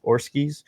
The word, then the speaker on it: Oreskes: Oreskes.